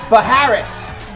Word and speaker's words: Baharat: Her name is Angela Barrett with a B-H. Baharat. But the H is silent.